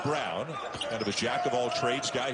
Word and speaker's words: Brown: Again, looks like Braun, spelled like Braun, but sounds like Brown.